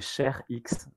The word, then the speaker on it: ShareX: Moi aujourd'hui, c'est ShareX. Alors, ça s'écrit Share comme le partage et Ouais. X comme la lettre X.